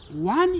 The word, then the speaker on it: on: We have got she is and also one is this one. We call it we pronounce this one through the nazal past. It is a it has got a naza sound. So it's on.